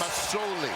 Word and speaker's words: Masoli: It's an S. Masoli. S, not a Z.